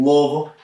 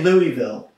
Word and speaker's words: Louisville: in wool we're gonna you can't say the Louisville that's wrong you can but it's like whoa it's like one and a half syllables it's not it's not free it's not really even - it's about one and a half wool so how do you